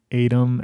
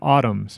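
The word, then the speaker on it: ATUM: doing the rounds promoting Adam at autumns actually is how it's pronounce the new new 30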